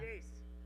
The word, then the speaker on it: Jace: How do you say your name? George Santa. Jace. Just say Jace.